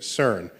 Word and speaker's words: CERN: So CERN is how you pronounce the word, which I think in